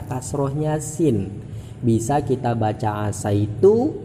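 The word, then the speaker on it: عَسَيْتُ: Bisa kita baca asaitu, bisa kita baca asitu, kasroh dan fathahnya sin. Tapi yang lebih baik, yang dipilih oleh ulama adalah membaca fathahnya sin, sehingga dibacanya asaitu.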